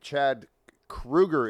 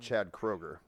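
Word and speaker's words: Chad Kroeger: is is Nickelback and Chad Krueger is how you pronounce it it's not Chad Kroger is it Krueger it's Krueger but even though it has an o but it's a German name yeah so that's why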